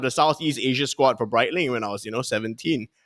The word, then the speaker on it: Breitling: Is it Breitling? Close enough. It's Breitling. Breitling. Yes. Okay. So it's like bright and dark lah.